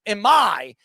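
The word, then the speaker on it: Imai: market this off season, Emi, how do you pronounce it? Emi, to a three-year, $54 million contract.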